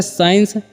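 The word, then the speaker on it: science: भी 30 साइलेंट है यानी की एस के बाद जस्ट बाद सी ए रहा है वहां पर सी जो होता है साइलेंट हो जाता है स्कूल भी होता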